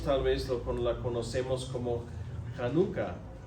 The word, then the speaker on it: Hanukkah: Nosotros tal vez la conocemos como Hanukkah. ¿Hanukkah? Sí, así se pronuncia.